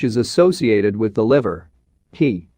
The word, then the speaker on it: he: associated with the liver he pronounced like her with a yawn which is associated with